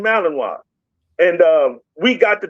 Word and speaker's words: Malinois: I was saying Malin raw noise, you know. And he said, "No, Belgium, Malininoa."